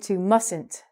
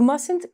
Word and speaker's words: mustn't: we can shorten - mustn't you mustn't cough during recording because it makes a loud noise but when we say this the T is silent we do not say